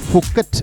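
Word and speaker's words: Phuket: ഞാനിപ്പോൾ ബുക്കറ്റിലൂടെയാണ് കടന്നു പോയിക്കൊണ്ടിരിക്കുന്നത് കൃത്യമായ ഉച്ചാരണം ഫുക്കറ്റ് എന്നാണ് ഫുക്കറ്റ് എന്നാൽ കുന്ന് മുനമ്പ്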